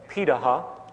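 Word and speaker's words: Pirahã: We know this today because of anthropological research done on remaining hunter-gatherer societies around the world, such as the Pidaha, which is how it's pronunciated, out of Brazil.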